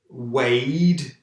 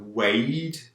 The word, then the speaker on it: weighed: to birth pregnant expecting weighed we don't pronounce the gh weighed is it born and